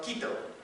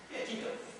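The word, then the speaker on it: Quito: was here yesterday well the capital is called Kito now you've all heard Kito pronounced in good Spanish so they had the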